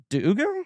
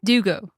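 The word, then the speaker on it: D'Ugo: Uh another name I believe I mispronounced in that episode. Romina Duggo. Dugo.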